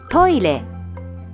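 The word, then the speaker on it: トイレ: When pronouncing re, your tongue touches the roof of your mouth.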